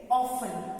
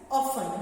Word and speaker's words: often: Now next, Kishan Lal's friend often. This is pronounced as often, not often. Often नहीं बोलना है. इसका pronunciation है often.